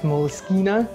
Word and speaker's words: Moleskine: in this case i'm going to use a moleskin tablet or as it's technically apparently pronounced moleskina uh an exacto knife some glue and of